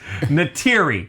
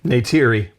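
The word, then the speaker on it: Neytiri: Na'vi woman named Natira and eventually leads the Na'vi in the war to protect their home from the human colonist Natiri.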